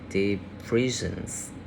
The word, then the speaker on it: depressions: You have tropical depressions. We have three syllables, and stress at the second syllable. Depressions. Yeah.